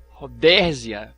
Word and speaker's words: Rodésia: É necessário recordar que o crânio de Rhodesia, ou Rodésia, assim como você queira pronunciar, um dos mais antigos achados antropológicos, ele exibe dentes com cárie.